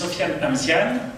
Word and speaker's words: Sofiane Amziane: Your pronunciation is perfect. My name is Sofiane Amziane.